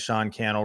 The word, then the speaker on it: Sean Cannell: My name is Sean Cannell, rhymes with YouTube channel, and I am fired